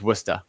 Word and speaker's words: Worcester: And so it's it's Worcester. It's how you pronounce it. There's no nothing no words end in R.